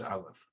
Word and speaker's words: aleph: symbolic now the pronunciation they say aleph is silent it indicates a mouth position and a vocal position different than i in begins in the throat a left begins in the mouth there's also it turns